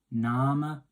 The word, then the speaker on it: Name: Now you can see, obviously it's spelled the same as name in English, but we're saying Name, pronouncing the E, and the A is kind of like an R sound.